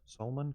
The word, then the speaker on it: Salman: something yeah yes Salman Salman is that hey pronounce it like Solomon almost Solman Khan No that's a